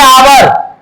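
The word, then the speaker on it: hour: यहां पर लिखते हैं आवर अब ऐसा नहीं कि इनका पहला लेटर में देखेंगे एच नहीं इनका उच्चारण कीजिए आवर तो यहां हो गया आ।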